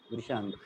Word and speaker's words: वृशांक: वृशांक। Okay तो V इज not silent, चलेगा।